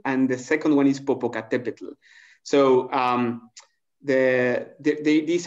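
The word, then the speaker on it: Popocatépetl: is tashi wata and the second one is popocatepetl so um the the these are the the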